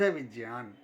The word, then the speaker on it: विज्ञान: गलतियां होती हैं शब्द विज्ञान वास्तव में इसकी स्पेलिंग ही विज्ञान है व इ ग या न यह गलत है सही है व ई ज य आ न विज्ञान और इसकी अगर परीक्षा